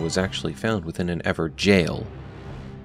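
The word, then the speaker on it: Evergaol: actually found within an ever jail notice how I'm putting emphasis on jail as many in the community left comments calling us out on our mispronunciation of ever jail as ever gwl we've learned our lesson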